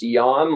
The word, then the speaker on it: Jan: here uh it's yeah it's actually pronounced yarn because it's dutch so different to the american john i guess so happy